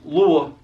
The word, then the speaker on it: Louisville: humble to it so to pronounce Louisville Kentucky the right way it's Lua it's a it's almost like you're taking three syllables and put them in one word loo loo loo loo